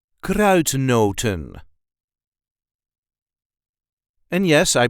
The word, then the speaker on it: kruidnoten: this gr not not there is a light emphasis on the first part of the word CR noton CR noon CR noton